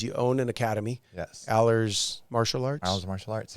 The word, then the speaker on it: Alers: Alers, yeah, there we Alers.